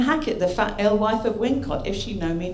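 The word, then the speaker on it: Wilmcote: And there are 2 possible Wincotts. Now, straight away, right? There's 2 possible Wincotts near Stratford-upon-Avon. Nominal coincidence. So you've got Wilmcott, pronounced Wincott.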